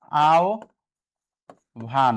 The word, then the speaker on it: আহ্বান: হ্যাঁ, আহ্বানের উচ্চারণটা হবে ভাইয়া আও ভান, হ্যাঁ, সঠিক উচ্চারণ।